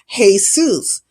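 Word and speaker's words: Jesús: Um, that J is pronounced with a H sound. It's Jesus.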